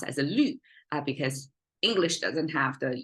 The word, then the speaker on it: 绿: it pronounced as a lu, because English doesn't have the U with the 2 dots on it, which is the Chinese sound marker for U sound. So this lu is a falling tone.